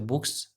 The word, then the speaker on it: books: बुक्स ये दोनों तो होंगे नहीं, डबल ओ दे रखा है इसमें। इसमें जेड दे रखा है, जबकि जेड तो यार आएगा नहीं, प्रोनाउंस करेंगे तो बुक्स सही आ रहा है, तो ऐसे करेंगे।